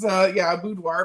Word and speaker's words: boudoir: It's a French word, and it is boudoir, but people say boudoir, whatever.